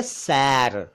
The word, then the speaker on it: सैर: से आया हुआ शेर और एक शब्द है सैर यानी ए की मात्रा अभी एक थी अब ऐ की मात्राएं हैं तो सैर तो शेर